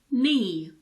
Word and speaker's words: knee: one is quite easy K is silent before the letter N at the beginning of a word word for example knee knife night not no let's